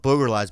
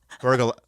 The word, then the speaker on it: burglarize: I don't boogerize, but I'm a good watchman. Boogerize. What do you got boogerize? Burglarize.